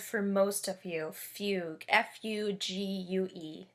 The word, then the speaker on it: fugue: at a piece called fugue in g minor so that might be a new word for most of you fugue f-u-g-u-e it's pronounced fugue not fugu or something like that and it is in